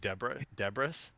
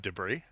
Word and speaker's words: debris: When I was like 12, I was saying debris instead of debris.